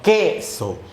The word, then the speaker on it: queso: Pero, para el caso de queso, solo se pronuncia la E. Entonces, no es queso, sino queso.